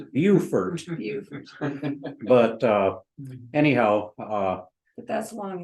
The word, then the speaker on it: Beaufort: And I'm mispronouncing that. The way the locals pronounce it is Beaufort.